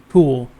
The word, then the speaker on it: CeWL: the Kali Linux tool Cool, which is of course spelled kind of weird, but it is pronounced Cool, which even the author made note of it on his personal website.